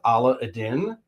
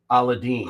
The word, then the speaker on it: Aladdin: East it's actually pronounced Allah Adin but this doesn't take place in the Middle East all throughout India and Southern Asia they actually pronounce it aladine aladine yeah so most